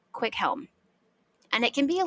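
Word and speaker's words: Cwichelm: they want to say quelm however again because CH is not a diagraph we have to pronounce the C and H separately meaning that this name is actually pronounced quick Helm and it can be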